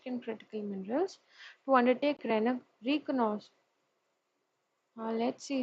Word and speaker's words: reconnaissance: Now, key features of the bill: introduction of exploration license for deep-seated and critical minerals to undertake reconnaissance. Let's see how this word is pronounced. Reconnaissance.